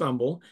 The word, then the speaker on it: Humble: in Umble Texas uh it is Umble because there is nothing humble in Texas um so it is pronounced Umble and uh I'm also